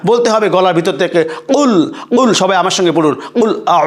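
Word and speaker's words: قُلْ: কুল, এই যে আগেই বলেছি কুল, দেখেন বড় কফের উচ্চারণটা, কেউ যদি বলে কুল, তাহলে এই কুল অর্থ হলো খাও।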